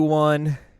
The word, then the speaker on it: An: Yeah, they pronounce it on.